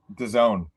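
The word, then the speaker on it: DAZN: Done. Done. Okay, that's what I figured. Um but I I just wanted to be sure. Uh so it's going to be on Done now.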